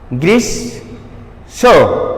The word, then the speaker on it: গ্রীষ্ম: আশা করি 2 নম্বর নিয়মও বোঝা গেল যে শব্দের মধ্যে শেষে মফলাযুক্ত হলে তার উচ্চারণ হবে না, মফলাযুক্ত ব্যঞ্জনকে দ্বিত্ব করবে। এবং এটি সানুনাসিক হবে। সানু মানে কি? সামান্য, নাসিক মানে নাক, সামান্য নাক দিয়ে উচ্চারিত হবে।